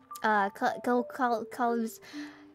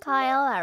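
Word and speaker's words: Kaela: Yeah, Zeta, Kana, and the other one, Kalibs. It's so hard to pronounce her name. Kalibs. Oh my god, hold on a minute. Kyla, right? Mm-hmm. Yeah, Kyla.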